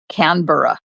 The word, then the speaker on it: Canberra: Pronounced pronunciation of Canberra is the second way not emphasizing the B but the R. Canbor.